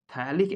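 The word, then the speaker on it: phthalic: पे दो carboxylic acid, तो इसको फथैलिक एसिड, थैलिक एसिड प्रोनाउंस करते हैं, सिर्फ फथैलिक लिखते हैं, थैलिक एसिड के नाम से जाना जाता है।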